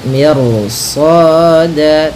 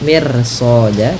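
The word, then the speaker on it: مرصادا: lidahnya terangkat, dan dimana shad ini itu huruf isti'la, maka ro-nya menjadi tebal. Maka miru ya, miru soda, tidak mir soda, tidak dibaca, jangan dibaca kanat mir soda, tapi dia ro-nya tebal.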